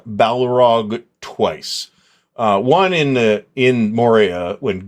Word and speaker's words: Balrog: It's Balrog. The A is a standard A, as I recall.